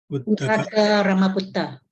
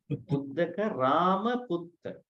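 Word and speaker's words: Uddaka Rāmaputta: This is again Pali pronunciation. Then the other one, Uttaka Ramaputta. Uddaka Ramaputta.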